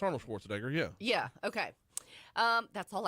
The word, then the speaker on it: Schwarzenegger: I always say Nager at the end. So Arnold Schwarzenegger. Am I saying it right? It's Arnold Schwarzenegger, yeah.